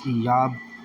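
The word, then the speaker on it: אִיּוֹב: So, Job, that name Job, when you look into it in the Hebrew, it's Iyab. It's pronounced Iyab.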